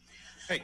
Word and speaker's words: HAI: HAI is spelled, pronounced HAI. Hey.